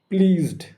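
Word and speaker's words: pleased: ড এর মত বাজড প্লিজড জ সাউন্ড এর পরে ইডি রয়েছে। আচ্ছা এখানে প্লিজ এখানে জ সাউন্ড এখানে স সাউন্ড নয়।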